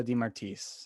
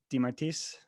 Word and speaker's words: DeMartiis: of virtuos boxing di martis i said that right d martis you said it right awesome i know i